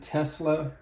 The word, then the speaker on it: TSLA: a company called tsla they pronounce it tesla but it's tsla and this is a